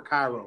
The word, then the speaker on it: Cairo: kind of kind of a name that could be pronounced two ways i'm trying to think it's not uh payroll payroll or cairo right that's it's k yeah that train from k-road to come down here